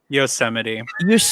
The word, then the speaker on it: Yosemite: What was the national monument he couldn't even pronounce the other day? Yosemite.